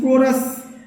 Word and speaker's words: chorus: ठीक है, ऐसे में लिख दिया CHORUS, कोरस मतलब होता है गायक समूह को बोला जाता है कोरस।